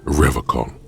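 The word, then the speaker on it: Revachol: But someone has to stay strong for Revacol. As gaze shifts to the pile of soggy logs at his feet, he pronounces Revacol with a hard K, unlike other people.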